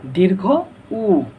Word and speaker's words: দীর্ঘ উ: এটা সঠিক উচ্চারণ হবে দীর্ঘ উ, দীর্ঘ উ, দীর্ঘ উ, দীর্ঘ উ।